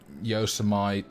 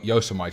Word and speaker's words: Yosemite: But mostly, you know, Yosemite, Yosemite. I pronounced it Yosemite for the first 20 years of my life.